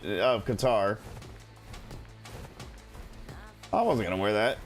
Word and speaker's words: Qatar: it from pronunciation is cutter at least that's how the British pronounce it um I don't know if I've ever heard somebody actually from Qatar cutter pronounce it so I